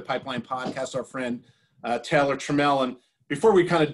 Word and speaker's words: Trammell: My name is pronounced Trammell. It stinks because there's a Hall of Famer, the same last name as me, and he pronounces it Trammell.